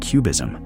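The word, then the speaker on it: QBism: There is a newer and more subtle interpretation of quantum mechanics called cubism pronounced cubism which stands for quantum basianism developed primarily by the physicists Christopher Fuches and Rutiger Shack and the philosopher of physics n David Murman.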